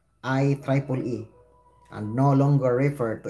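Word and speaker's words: IEEE: organization is now Officially known as iiee pronounce I Triple E and no longer refer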